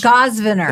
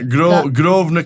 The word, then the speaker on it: Grosvenor: It's a silent S. When it has an S in it, It so I always say does. Grosvenor. Yeah, Grosvenor casinos. So the S is silent.